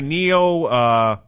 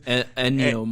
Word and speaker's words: Ennio: Neo Morricone or whatever the fuck his name is. Ennio Ennio Morricone, Yeah, yes.